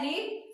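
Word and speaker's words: read: Main verb क्या है, रीड, तो रीड का थर्ड फॉर्म रेड। स्पेलिंग यही होगी, प्रोनाउंसिएशन अलग होता है, रीड, रेड, रेड, तो क्या हो गया, रेड।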